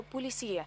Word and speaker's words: Полесье: белое красное и розовая полесье именно так с ударением на последний слог и на французский манер зависимости от цвета а